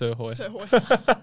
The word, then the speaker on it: Srhoj: her last name, but in brackets, pronounced Srhoj. Thank goodness for the internet.